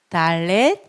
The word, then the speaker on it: Dalet: 다음 은 'd' 발음인 Dalet 입니다 . 그리고 점 도 하나 있어 요 . 이것 은 'd' 발음 입니다 .